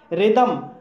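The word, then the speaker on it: rhythm: रिदम, रिदम शब्द भी आर एच से शुरू हुआ है इसलिए यहाँ पर एच साइलेंट है और इसलिए यहाँ पर रिदम बोला जाएगा और रिदम मीन्स होता है ताल।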